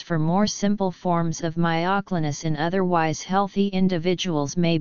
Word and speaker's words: myoclonus: English and British English the variant stressing the OC syllable is the only pronunciation given in a half-dozen major American dictionaries the variant stressing the